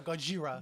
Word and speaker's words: Gojira: it's pronounced Gojira.